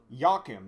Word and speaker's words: Yakim: Yakim. That's how that name is pronounced.